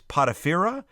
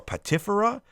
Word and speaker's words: Potipherah: Whether it's Potiphera or Patifera, however you pronounce them, don't be scared.